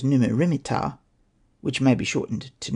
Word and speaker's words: Neb-mat-ra-mer-ptah: Another possibility is that it represents Amenhotep III, Neb-mat-ra-mer-ptah, pronounced as Numu-rimit-ptah, which may be shortened to Neb-mer-ptah or Mer-neb-ptah.